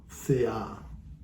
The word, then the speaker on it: θεά: So Thea. So the accent is on the A, Thea, goddess.